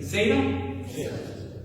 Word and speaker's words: zeta: Zeta is kind of interesting. It has a D and a Z. So zeta is going to be z. You start with a D, like you're going to say duh, but then you just kind of like rob it with a Z. So you're going to commit to it as D, and then also like, no, I just decided to roll the Z.